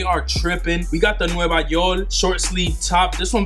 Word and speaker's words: Nueva York: If you guys know and you are Dominican, you know that you pronounce New York as Nueva York.